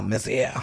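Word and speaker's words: Mézières: I had to look up the pronunciation on this one. Mézère. Yeah, Mézère.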